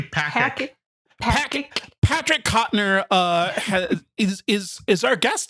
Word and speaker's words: Patrick: I believe it's pronounced Partic. Yeah, you got it. Yeah. Partic. It's actually Patrick.